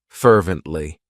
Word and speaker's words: fervently: It has 3 syllables, and the stress is on that first syllable, fervently. What it means is that you are just showing great enthusiasm, great intensity to do something.